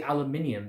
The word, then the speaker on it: aluminium: They pronounce, I find it amusing at first that we say aluminium, they pronounce it aluminum.